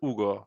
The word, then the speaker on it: Ugo: in English, Hugo. In Italian, Ugo.